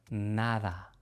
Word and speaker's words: nada: Nada, pedir, verdad. Este sonido es similar al sonido th del inglés, pero incluso un poco más suave.